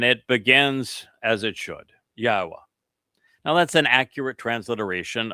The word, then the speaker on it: Yahweh: It is easily pronounced. And it's easily shown that that is the proper pronunciation. In fact, I've just shared with you the two words. In fact, he wanted to take it to three. I assured all three that by themselves affirm the pronunciation of Yahweh as such.